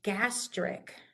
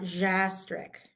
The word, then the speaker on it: gastric: And the G does the same thing. We say gastric, not jastric, right? No, no J.